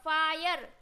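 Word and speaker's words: fire: फाई आर ई यर तो क्या हो जाएगा फायर वायर हायर टा मतलब टायर इंस्पायर ओके क्या आई का उच्चारण क्या करना है आई करना है तो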